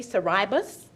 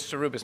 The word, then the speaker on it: Saribas: you mr it's saribas did i pronounce that correctly if not please correct me it's cerubis madam chair cerupus thank you thank you